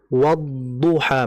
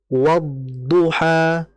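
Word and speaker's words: والضحى: Sehingga huruf wau ini harakat apapun dia maka tetap dibaca dengan memonyongkan kedua bibir. Walaupun huruf ee huruf wau ini berharakatnya fathah sehingga dibaca wa wa wadduha.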